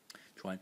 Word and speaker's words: 專: This is the title phonetic character is pronounced in the first tone.